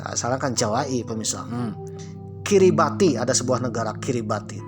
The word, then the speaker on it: Kiribati: Kiribati. Ada sebuah negara kiribati ternyata dibacanya adalah kiribas pemira. Ti itu S.